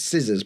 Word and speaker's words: scissors: We know it's scissors, but have you seen skizzers anywhere?